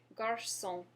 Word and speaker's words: garçon: First, we have the word garçon.